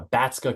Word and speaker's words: Batska: Uh, Batska Consulting. It's spelled B- A T S K A.